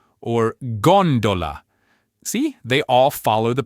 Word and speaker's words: gondola: So, after our golden rule, the next most common pattern you'll find is the stress falling on the third to last syllable.